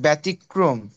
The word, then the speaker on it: ব্যতিক্রম: ব্যতিক্রম ঠিক আছে ব্যতিক্রম আর এখানে আমি উচ্চারণ দিয়ে রাখছি মানে কিভাবে উচ্চারণ করবা ব্যতিক থেমে যাবা ক এর ফলাকার মক্রম ব্যতিক্রম এক্সেপশন ঠিক আছে ব্যতিক্রম এইভাবে ওকে এটা গেল এটা